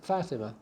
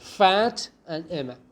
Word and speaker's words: Fatima: is one of that fatima fatima or fatima fatima okay so it's like fat and emma fat and emma i'm